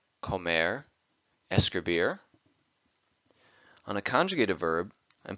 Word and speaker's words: escribir: an infinitive verb and place an emphasis on the last syllable hablar Comair escribir on a conjugated verb